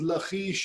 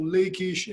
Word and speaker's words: Lachish: and let's start with lachish or lakeish any way that you like to pronounce it or to call it